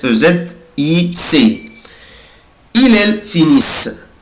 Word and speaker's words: finissent: il elle finissent mais je ne prononce pas ENT ومش بنطق ال ENT، بقولها كده finissent finissent. يبقى انا دلوقتي مش بنطق